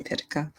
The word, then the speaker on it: Pitica: jerk and say um i pronounced my last name pitica um oh i get